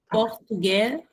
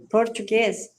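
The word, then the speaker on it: portugais: Olha aí a gente não pronuncia o S final. Tá vendo a conso? Fica Glle. Aham. Ah, português. Não, pode falar direto, Susana. Glle portuguê. Português.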